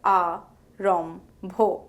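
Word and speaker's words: আরম্ভ: The nasal Mo transitions into the aspirated Bho, producing an mb sound. For instance, Arambho is pronounced as A-rom-bho.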